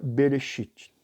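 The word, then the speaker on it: בראשית: princípio nascimento criação e se você for pronunciar então em linha branca e seria bereshit ok nós temos aí o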